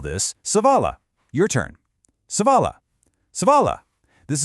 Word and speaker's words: സവാള: In Malayalam, we call this savala. Your turn. Savala. Savala. This is a brilliant word to know cuz savala is basically the foundation for almost every single delicious Kerala curry out there.